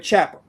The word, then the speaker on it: Ciampa: I keep on saying his name wrong, but Ciampa.